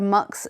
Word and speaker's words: Mx: Kids are being encouraged to use phrases like they or them, and even the title MX, pronounced mix or mux instead of miss or sir.